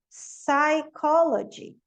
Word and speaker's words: psychology: Então, PS, o P não pronuncia. Então, aqui é psychology, psychiatrist. KN, como a gente viu antes, tem muita palavra com KN que a gente vai usar essa regrinha.